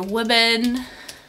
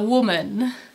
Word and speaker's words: women: this but here um the plural it's women women so you see that this this this sound changes women women so that's